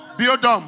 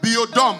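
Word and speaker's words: Biodôme: Biodome. Biodome. Biodome. I'm pronouncing in English Biodome. Biodome. Biodome. Montreal Biodome. Oui. Biodome. English is Biodome. French is Biodome.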